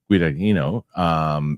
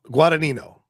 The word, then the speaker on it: Guadagnino: Luca Guadagnino is set to direct the World War II movie from a screenplay from Justin Kirkitz, who scripted.